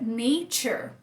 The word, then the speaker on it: nature: Então, quando você vê, por exemplo, a palavra nature, você começa a fazer padrão na sua cabeça, né? Natureza. Esse A fez som de A. Nature. Tá no final, não foi pronunciado, como a nossa regrinha, muito bonitinho, funcionou a regrinha aqui.